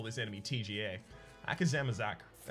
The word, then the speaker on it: Akazamzarak: Rock and Issue versus the great Akazamzarak.